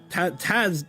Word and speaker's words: Tazaronth: It's not at all how you say his name. Tazaronth.